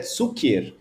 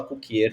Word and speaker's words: Cukier: Kukier é do polonês e a pronúncia em polonês é Cukier. Aqui no Brasil a gente fala Kukier, tá tudo certo.